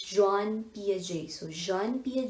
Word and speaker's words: Jean: so this is gina usually we pronounce this as gene but this is john psja so jean-pierre j